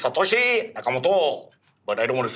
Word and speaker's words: Satoshi Nakamoto: The pronunciation is Satoshi Nakamoto.